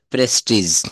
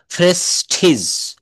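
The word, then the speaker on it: prestige: রাখতে হবে এরপর দেখেন এই যে প্রেস্টিজ আমরা বলি না তার খুব প্রেস্টিজ লেগেছে ফ্রেস্টিজ ফ্রেস্টিজ পয়েম ন ফয়েম ফম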